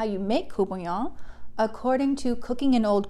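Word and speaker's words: courtbouillon: of the dish, and I am attempting to use a Creole version of the pronunciation.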